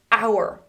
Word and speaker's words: hour: "Hour.